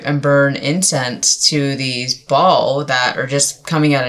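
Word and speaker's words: Baal: been worshiping to these ball and I actually just remember or not remembered I just figured out recently it is pronounced Ball by the way and not Bale um I I figured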